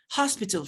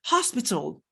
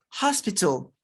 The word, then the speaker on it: hospital: It's hospital, hospital. It is high. This is height. This is hello. You pronounce the H. The H is not silent in these words.